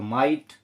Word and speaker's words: might: अब ये क्या हुआ दोस्तों, MIGHT, MIGH का माई और GH शांत रहेगा तो माइट।